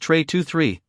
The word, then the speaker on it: Trey 23: And worth it by Trey T tra. Oh my god, you idiot. It is obviously pronounced Trey 23 as in Trey followed by the numbers two and three.